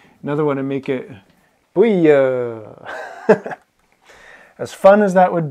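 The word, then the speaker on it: buí: Buia. It's one beat, one syllable.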